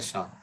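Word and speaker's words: SHA: Hash जो शाह 256 है, ये ऐसे जिसको प्रोनाउंस किया जाता है शाह, तो शाह 1 शाह 256 अलग अलग एल्गोरिथम है, हम लोग देखेंगे उसको क्रिप्टोग्राफी में।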